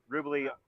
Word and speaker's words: Rubely: Rubely, like Jubilee, is how we pronounce it, to give me a pronunciation key.